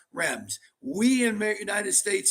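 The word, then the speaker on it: Reims: different ways to pronounce Rems we in the United States say runs but it's not as Raw it's like they don't even pronounce the S we learn so much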